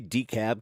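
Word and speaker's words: DeKalb: I like how they'd say Decab County like they don't pronounce the L.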